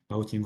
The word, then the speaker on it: Bautin: Otherwise we cannot apply this great theorem by Bautine. Bautine was Russian, that's why I'm pronouncing his name this way.